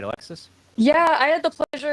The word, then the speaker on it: Alexis: And then Alexis, don't want to pronounce her name wrong. Yeah, Alexis.